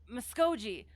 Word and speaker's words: Muskogee: As in I'm just an Okie from Muskogee. Okay, soft G.